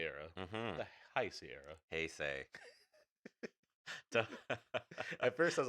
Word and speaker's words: Heisei: Heisei.